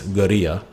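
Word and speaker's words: guerrilla: the word gorilla but pronounced in the native spanish is geria and you'll hear just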